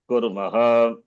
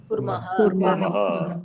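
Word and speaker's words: कुर्मः: Aham karomi, avam, kurvaha, vayam, kurmaha. Not kurma, vayam, kurmaha. Chapati, kurma later. This is kurmaha, vayam, kurmaha.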